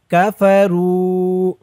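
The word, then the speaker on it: كَفَرُوا: ইন্নাল্লাযীনা ইন্নাল্লাযীনা কাফারু কাফারু রু একালিফ টান, পেশের পরে ওয়াও সাকিন।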